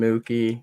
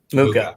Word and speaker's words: Muka: There'll be a stream with myself and Mookie, or how do you pronounce it again? Muka. Yeah. Sorry about it's that. Like Mocha, but just Muka.